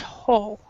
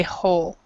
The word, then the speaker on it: whole: lot is actually pronounced whole so we actually do not say the wh together we we say whole there and another thing um